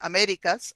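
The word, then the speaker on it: Américas: migration in the americas accent to emphasize the spanish pronunciation americas america and uh looks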